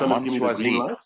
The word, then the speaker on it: Mon Choisi: You can pronounce that for me. Yeah, Mon Choisi.